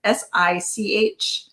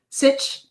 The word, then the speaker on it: Sich: I always say her name wrong. It's SICH. Sitch.